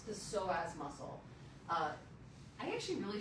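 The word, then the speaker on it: psoas: So as is ps, but it's pronounced soaz, it originates in the lumbar spine and attaches to the femur.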